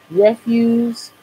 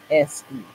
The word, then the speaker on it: refuse: Refuse is called. It's spelled Refuse. It looks like refuse, but it's refuse and waste material.